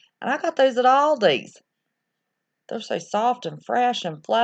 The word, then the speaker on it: Aldi: Aldi's?